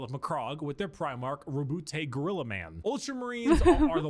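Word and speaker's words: Roboute: Rabute. That's how it's said. An analyst, a diplomat. Sorry, what was your name? Rabute? Do you mean Robert? No, Rabute.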